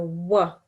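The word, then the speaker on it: و: vu, This is pronounced like a W, so wa, wow.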